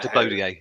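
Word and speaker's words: Latibeaudière: it was always going in, wasn't it, from the moment he left his boot after Latiboudier, if I've got the pronunciation right. Latiboudier, yeah.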